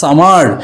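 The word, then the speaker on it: summer: টাকে ফোকাসে আনা হয় সো আমেরিকান ইংলিশের ক্ষেত্রে সামার সামার বলা হয় আর ব্রিটিশ ইংলিশের ক্ষেত্রে আর টাকে সাইলেন্ট রাখা হয় ব্রিটিশ ইংলিশের ক্ষেত্রে আর কে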